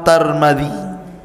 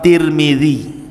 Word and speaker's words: Tirmidzi: kota sebuah daerah dan ada yang kemudian membacanya ada turmud ada tirmid jadi ada sebagian mengatakan Imam tarmadizi ada yang mengatakan Imam turmudzi ada yang mengatakan Imam Tirmidzi walaupun yang masyhur adalah Imam Tirmidzi ya dan itu yang